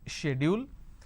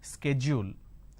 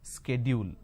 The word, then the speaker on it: schedule: of people don't understand so the british pronunciation is schedule the american pronunciation is schedule now in india what we are doing is we are taking half of american pronunciation and we are taking half of british pronunciation and we end up pronouncing this as schedule this is where we go wrong because of the influences